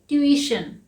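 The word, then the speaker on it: tuition: हम कहते हैं ट्यूशन कैसे ट्यूशन ही कहते हैं नहीं इसका सही प्रनंसीएशन है ट्यूशन इससे हम हमेशा सिर्फ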